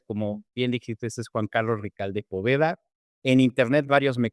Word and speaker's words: Juan Carlos Ricalde: Y sin más preámbulo, les presento a mi invitado del día de hoy, Juan Carlos Ricalde. ¿Lo pronuncié bien?